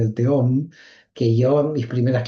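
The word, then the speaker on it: תהום: porque es verdad que en hebreo es teom porque es una he, pero es una muy difusa, no es Alef, es una que tiene algo de J.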